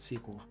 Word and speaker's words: SQL: that I can make the claim that most pronounce it squel because I don't know a lot of people